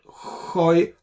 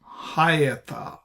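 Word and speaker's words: הָיְתָה: So it is not hoita, it is hayata. It's not hoita. Hayata is correct.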